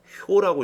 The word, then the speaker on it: 효: 효라고 읽으셔야 돼요. 요렇게 한 개 한 개를 효라고 읽어야 돼요.